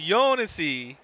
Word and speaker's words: Jounisii: He says it's Jounisii, 4 syllables. Jounisii is correct? Okay. The J is very light.